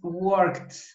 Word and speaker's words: worked: es worked. Worked. Cuando pronuncias, como que se te sale una S, casi una S se te sale al pronunciarlo.